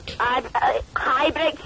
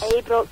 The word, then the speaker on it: Ibrox: Ibrox, you div. You don't say it like that. Right, okay. Abrooks. Abrooks, that's it.